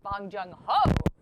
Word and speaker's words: Bong Joon-ho: It's Bong Joon-ho. Okay. Yeah, yes. Bong Joon-ho. Great pronunciation.